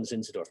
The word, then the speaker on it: Zinzendorf: Nicholas Count von Zinzendorf.